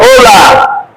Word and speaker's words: hola: learn is the word hola. Remember our alphabet. H is silent. So this is the pronunciation.